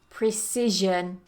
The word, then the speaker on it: precision: move on number 13 Precision Precision so make sure you get that there's vibration here Precision the next one sabatical